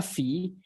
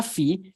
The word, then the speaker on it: Phi: a one of the greater letters it is pronounced as Phi as in Phi okay so Delta Phi uh is changing magnetic flux okay and delta